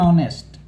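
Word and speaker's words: honest: इससे पहले एन लगेगा एन ऑनेस्ट ठीक है मुझे विश्वास है ए और एन का आप बिल्कुल समझ गए होंगे यहां पे भी देखो मैंने लिखा है एच इज साइलेंट थोड़ा-थोड़ा एग्जांपल दिया है तो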